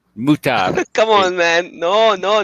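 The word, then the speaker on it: mut'ah: you say that hey not mutha muta come on man no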